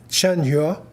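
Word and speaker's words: Zheng He: Admiral named chenu now they spell it with a zed or Z but the pronunciation chenu who lived um this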